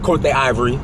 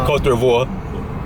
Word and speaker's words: Côte d'Ivoire: So currently we are in Abidjan, Côte d'Ivory. Did I say it right? Côte d'Ivoire. Sorry, I butchered it.